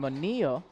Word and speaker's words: Manilla: Little friendly reminder on how to pronounce some last names. Apparently it's Portillo and Manilla, but I will not change my Andre Pereira.